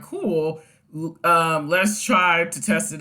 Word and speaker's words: CeWL: Okay, so Cool, pronounced Cool, is a custom word list generator tool that spiders websites to create word lists based on the site's content.